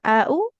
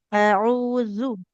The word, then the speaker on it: أعوذ: Jangan AU, habis Hamzah huruf Ain ya. A'udzu.